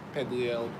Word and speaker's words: Perdriel: I pronounce it Pedriel.